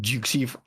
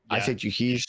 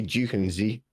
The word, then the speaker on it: Jukeyz: I would say easy to pronounce because I got to call it Jukeyz all last year. Really? Yeah, because it's the way people pronounce the Z in it. So like, I say Jukeyz, but people pronounce the Z as like a Z.